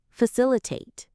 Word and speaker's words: facilitate: Let's break down its sound. Filill iate. It has four smooth syllables. fill iate. The stress is on the second part.